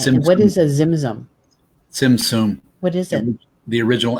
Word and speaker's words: Tzimtzum: like the emanations of the, how do you pronounce that? Zimzum? Okay. And what is a zimzum? Tzimtzum.